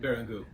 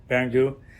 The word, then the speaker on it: Barrangou: Barrangou. Did I pronounce that right? Barrangou. Barrangou.